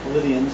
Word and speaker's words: Pleiadians: When the Pleiadians, Pleiadians, the correct pronunciation, when the Pleiadians came down to help the humans, was this at the time?